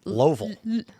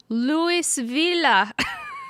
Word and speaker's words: Louisville: Yeah, but my my favorite one though My favorite question though was asking them to pronounce Louisville. And they all said Loville. Louisville.